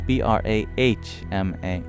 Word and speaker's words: Brahma: the M wrong it's b r a h m a one of the interesting things about the word Brahma is that the H is actually pronounced after the M it's the only exception